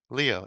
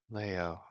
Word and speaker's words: Leo: Uh I know Leo L EO but you know different if you spell it L EO which you I do in different cultures different languages it's pronounced not Leo for example it'll be pronounced Leo and I'm like no I don't like Leo it just sounds like a soft name Leo is a stronger name I can emphasize more of the eo It's because I was